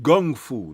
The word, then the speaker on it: Gung Fu: Hornet, where he had introduced Gung Fu. That's how he pronounced it, with a G.